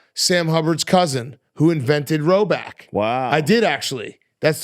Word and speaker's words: Rhoback: I saw Sam Hubbard's cousin who invented Roback.